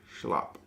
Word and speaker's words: slap: Pronounced like a schlap. It's Afrikaans terms like a softer texture.